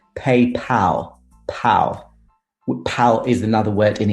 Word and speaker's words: PayPal: who this guy is it's not paid paul uh unfortunately but it's paypal pal is another word